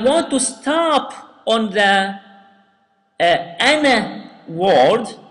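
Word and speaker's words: أنا: will skip the vowel, we will skip the alif here, okay? We will not pronounce the alif, okay?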